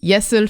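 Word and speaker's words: 예수: that yet yes and yesul for art and yesu for jesus like sound very similar so he was making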